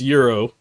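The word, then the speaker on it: gyro: You can fold it like a gro sandwich, bro. Yeah, that's pronounced that's pronounced Euro. Euro sandwich.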